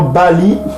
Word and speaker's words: Baal: C'est Bali. Ça se prononce Bali.